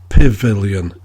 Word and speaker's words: Pavilion: at least world famous most scousers would pronounce Pavilion as Pavilion using an eye instead of an A and therefore the The